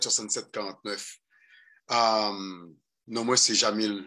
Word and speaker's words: Jamil: Jamil écrit J-A-M-I-L, Makala, M-A-C-C-A-L-A.